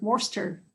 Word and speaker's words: Worcester: tongue twister for me and what i'm worster worster that place will stay yeah why is it pronounced worcester god's sake because english is weird